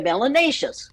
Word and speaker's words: melanous: melan in your skin you're melanous which rhymes with gracious and spacious and efficacious it is not a